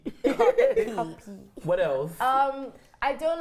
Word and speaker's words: Cuppy: So how do you pronounce it? What's the correct word? Cuppy. But this is more like in Nigeria. Like they say Cuppy. They say Ku.